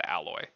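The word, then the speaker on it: Aloi: remember it being spelled and I it is pronounced alloy.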